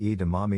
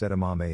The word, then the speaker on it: edamame: all the time and used to say edamame like e to mommy normally pronounced edamame if you don't know